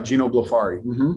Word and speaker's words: Ginobili: guess i should have stated we're talking about geno it's that how i pronounce that that's right ginobili and he's the chairman of the board right